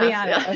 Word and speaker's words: Taviano: And I'm really thrilled to have author and poet Marla Taviano. Did I say it right? Can you correct me? Taviano, close enough, Taviano.